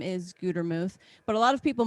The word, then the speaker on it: Gutermuth: it and they'll say gutter mouth it's really annoying it really makes me mad it does you know they can't even pronounce a simple word right one t makes a long u gutermuth it's easy yeah right